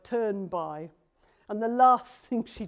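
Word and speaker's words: Thunberg: surnames anybody know how the Swedish pronunciation of her surname goes no her surname the second name well the nearest I've heard it pronounced is it sounds like turn by and the last thing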